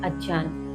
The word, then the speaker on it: अज्ञान: इस नींद को अज्ञान अर्थात अज्ञान सही उच्चारण होता है अज्ञान तो कुछ व्याख्या हों